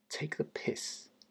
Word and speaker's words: take the piss: Take the piss. Take the piss. The stress is on the piss part.